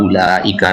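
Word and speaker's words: أولئك: ditulis tapi tidak dibaca seperti kata ulaika misalkan Ya itu kan enggak dibaca ulika padahal ditulis isannya ada wau Ya nah tapi dibacanya tidak ada wau nah seperti ini bagaimana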